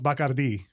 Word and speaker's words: Bacardi: The Bacardi family, or it's pronounced Bacardi in Spanish.